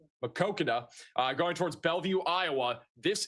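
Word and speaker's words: Maquoketa: And then down here near the Marquetta area, I mispronounced it again, Makokada, going towards Bellevue, Iowa.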